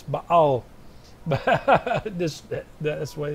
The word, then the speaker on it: Baal: So in America, you usually say Baal, but it's Baal. This, that's the way it's supposed to be pronounced.